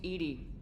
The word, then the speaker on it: EDI: Why are you named Edie? EDI is the phonetic pronunciation of EDI. That is an acronym for Enhanced Defense Intelligence.